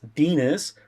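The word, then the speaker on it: Denis: My favorite character is Dinas, who rhymes with penis, stated in the book, Mm-hmm.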